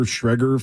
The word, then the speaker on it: Schrager: As somebody pointed out, Peter Schreger from Good Morning Football. Is that how you say it? Is that how you say it? Traeger, yeah. Why are you guys laughing at me?